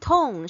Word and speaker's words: tone: And tone, she also like emphasized the pronunciation. Tone. It's not tongue.